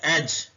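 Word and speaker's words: edge: है बैज सेकंड है एज इसमें डी साइलेंट है उर्दू में एज ऐसे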